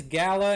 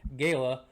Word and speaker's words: Gala: Gaya I call these Gala and Galas uh pretty much my whole life until last year I learned that the uh correct pronunciation is apparently Gayla but these are awesome